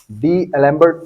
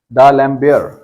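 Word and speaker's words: d'Alembert: भी कर सकते हैं इसको प्रोनाउंस आप डी एलर्ड टेस्ट ठीक है वैसे इसका जो करेक्ट प्रोनंसिएशन है वो है दलम बेयर दलम बेयर य एक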